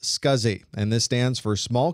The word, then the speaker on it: SCSI: The abbreviation SCSI is pronounced SCSI and this stands for small computer systems interface.